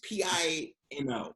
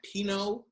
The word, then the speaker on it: Pino: back and forth it's p-i-n-o that pinot like pinot grigio it's the magic the magazine it's it's pino like filipino yeah i see i told you guys see it's like it's pinot pinot you know it's